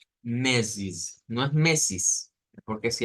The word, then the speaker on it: meses: de ellos primer lugar la palabra mes se escribe igual en portugués y en español pero la vamos a pronunciar bastante diferente vamos a decir mesis mesis es importante hacer